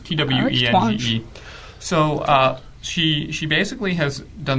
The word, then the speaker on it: Twenge: I'm not sure how it's pronounced. It's Twenge.